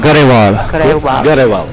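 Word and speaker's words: Grewal: This is last name pronounced Graval or Grawal? Garewal.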